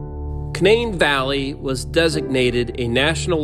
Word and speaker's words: Canaan: Locally pronounced as Canain rather than the biblical pronunciation Canaan.